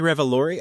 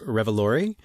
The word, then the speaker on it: Revolori: Tony Revolori, I believe it's pronounced Revolori, who I'm familiar with from the Spider-Man movies where he plays Flash.